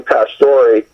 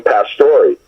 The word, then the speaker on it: Pastori: things, just acting overall, people had a hard time pronouncing, believe it or not, the name Pastori. They would say Pastor, and they'd spell it Pastori, and all these other different derivatives.